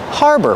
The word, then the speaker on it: harbor: Harbor, pronunciation. Use the R sound like far and car, har. And the second syllable is like burger. Together, harbor. This is a harbor.